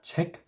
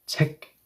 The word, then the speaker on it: 책: Yes, the K will no longer have a snappy 책 K sound. Now it should sound like NG, right?